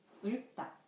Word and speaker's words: 읊다: It also sounds like L and P. 읊다. 읊다. The final consonants of 읊 is 리을 and 피읍.